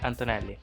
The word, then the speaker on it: Antonelli: Andrea Kimi Antonelli. Everyone calls me Kimi, so I will go for that. You pronounce the A's probably a bit different, so it's just a bit more flat.